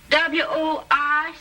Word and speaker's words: Worcester: But it's spelled W-O-R-C-E-S-T-E-R.